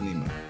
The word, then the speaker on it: Neymar: name like neymar it's written neymar and it's pronounced nemer easy spain is the same goalkeeper it's scary